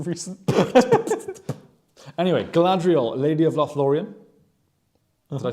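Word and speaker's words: Lothlórien: Ooh, Lothlorien. Roll your R's, James.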